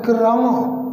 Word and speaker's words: क्रम: ऐसे, तो इसको समझिए, ये का तो है आधा और रा है पूरा। उच्चारण भी करें क्रम क्रम, तो का आधा रा पूरा।